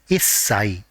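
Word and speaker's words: 一歳: Even though 1 is ichi for 1 year old, and whenever the age is ending with 1, the part corresponding to 1 has to be pronounced as issai.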